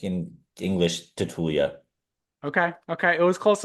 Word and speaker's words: Tatulea: Uh, so in Romanian it's Tatulia, but we like in English Tatulia.